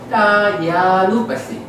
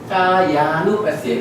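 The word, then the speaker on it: kāyānupassī: 그러니까 A가 두 개니까 합쳐가지고 장음으로 처리를 해버리는 거예요. 그래서 까예 까야누바시, 까야누바시, 그러니까 길게 발음을 해주라는 거거든요.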